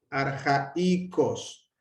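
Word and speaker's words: ἀρχαϊκός: Arjaicos. Arjaicos. Esto, si no tuviera diéresis, sería arjaicos, pero como tiene diéresis, es arjaicos, ¿no? La alfa y la iota están en sílabas separadas.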